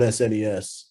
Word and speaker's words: SNES: I didn't know that at the time, but it was like kids being like, oh, it's better on SNES or SNES, as I think we discovered was the correct pronunciation now.